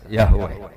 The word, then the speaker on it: Yahweh: Itu nak teng ejaan Latin Y besar A H besar W E H besar Yahweh.